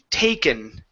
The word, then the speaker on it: taken: Give me a long A sound, so instead of taken, it's taken. Taken.